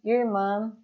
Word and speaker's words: irmã: Irmã, irmã. Esse som aqui, pessoal, vocês já sabem, é o mesmo som de mã, como ta petite main.